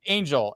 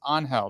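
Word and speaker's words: Ángel: his name's you know you see his name like Angel and he's like no no his name's Angel that's how yeah that's how you pronounce it so my point being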